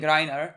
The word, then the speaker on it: Reiner: uh erin i know you're saying rayner's name wrong like i'm aware that we're saying narrator's name wrong but like we're too far deep into it i can't start saying reiner i can't that's so